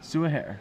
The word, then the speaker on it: Soua Her: Soua Hare.